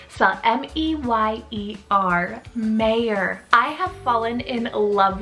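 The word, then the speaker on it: Meyer: surname that is completely genderless is the name mayor so m-e-y-e-r mayor i have fallen in love with this name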